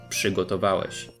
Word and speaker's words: przygotowałeś: However, in this case we have an RZ, which is one of the two exceptions, which means the preceding p causes RZ to be pronounced as sz, przygotowałeś.